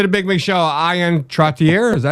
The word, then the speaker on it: Trottier: It's Trottier, French gotcha.